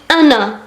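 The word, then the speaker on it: أنا: Je en arabe c'est ana. Ana, c'est pas ana, c'est ana. Ana. Le A, on le prononce comme alif, ana.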